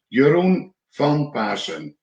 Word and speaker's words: Jeroen Van Paassen: it correctly yes yeah my name is pronounced your own fun person and you know it's